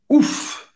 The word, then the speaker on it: ouf: Você vai pronunciar esse F.